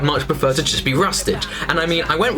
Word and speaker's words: Rustage: I'd much prefer to just be Rustage.